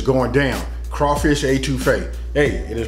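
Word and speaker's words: étouffée: smoking and Grilling and today we making crawfish A2 fa with me a that's right you guys read it now you heard it and it's going down crawfish A2 Fe hey it is pronounced A2 F so listen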